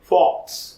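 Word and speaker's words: faux: তাহলে আমরা মনে রাখতে পারি ফক্সের উচ্চারণের সাথে আমরা ফলস এই উচ্চারণটি মিলাবো, এবং এখান থেকে আমরা বলতে পারি যে ফক্স শব্দের অর্থ হচ্ছে মিথ্যা বা ভুয়া।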